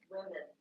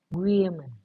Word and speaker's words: women: Women. When we say one, singular, Woman. woman, woman. Women. That woman is so tall, woman. Mm-hmm. But when we say the plural, listen how it changes.